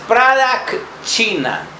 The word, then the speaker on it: pradakshina: El sutra para esta lección es: el silencio, la quietud es pradakshina. ¿Cómo se escribe? Prada, normal, K de kilo, y Shina con S.